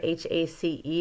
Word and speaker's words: hace: Our H's are silent, but we do pronounce the E. So that first word, H-A-C-E, is pronounced hace.